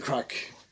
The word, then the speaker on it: craic: great human so that's what we mean by crack or what's the crack hello what's the story